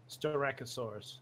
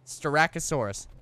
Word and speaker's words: Styracosaurus: we have the first alpha strike Oh Soros pronounce it for me Styracosaurus Styracosaurus Thank You Dax and snow I'll rename it